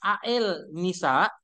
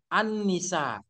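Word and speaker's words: النساء: penulisannya lihat jadi begini walaupun ini QS Al Nisa Tapi bacanya juga kalau nanti ibu-ibu semua ini e mempesentasikan tesisnya jangan juga baca berdasarkan QS Quran surah Al alnisa ah salah kalau dibaca tetap surah Quran surah Anni Annisa Jadi itulah bedanya tulisan dengan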